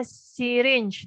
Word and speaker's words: syringe: Di sini namanya syringe tulisannya itu. SYRINGE. Syringe cara bacanya ya, jangan salah. Tulisannya syringe, agak beribet syringe, tapi bacanya syringe.